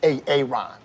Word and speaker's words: Aaron: I'm just asking, I said it like four times, so why didn't you say it the first time I said A-A-Ron? Because it's pronounced Aaron?